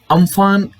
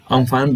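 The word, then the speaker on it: Amphan: चक्रवाती तूफान को अम्फान नाम थाईलैंड के द्वारा दिया गया था, जिसका इस चक्रवाती तूफान का उच्चारण जिसका किया जाता है उम्फुन के नाम के रूप में किया जा रहा था।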